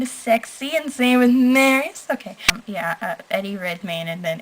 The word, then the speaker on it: Marius: Marius, I know I said that right because in the movie they said Marius or Marius.